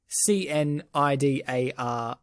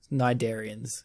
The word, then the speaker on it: Cnidarians: So that's Cnidarians, Cnidarians with a silent C.